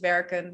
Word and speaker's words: werken: Well, yeah, we just decided to speak fast, don't pronounce the N and pronounce the last E as an E. Lopen, werken, rennen, eten.